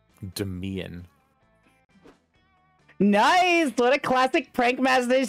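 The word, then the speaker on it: Damien: on him uh daniel i think it's pronounced dimion demian nice what a classic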